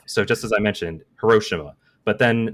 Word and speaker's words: Hiroshima: So just as I mentioned, Hiroshima, but then there's kind of the more Japanese way to pronounce it, but still in English, is like Hiroshima. But then there's the Japanese pronunciation, which would be Hiroshima. So, which do I go with? Yeah. But so Hiroshima is like close to the Japanese version, but Hiroshima is kind of like the English version of the city, right?